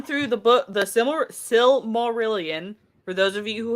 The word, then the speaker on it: Silmarillion: the book the similar silmarillion for those of you who have a hard time pronouncing it uh it is the sil it's based off of the silmarils so the silmarillion is